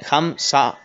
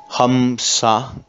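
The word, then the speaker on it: hamsa: al exhalar por cierto se pronuncia suavemente como la h aspirada y la vocal esa es larga a lo largo de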